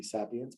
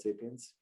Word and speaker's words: Sapience: sapience and you know i think derek tried to correct me early on telling me i pronounced it wrong it should be sapience but i still call it sapiens uh really i think